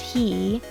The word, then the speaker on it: Hi: As for his name, I know it's spelled like hi, but it's pronounced He because why not have another Chao's name that's synonymously spoken like a pronoun.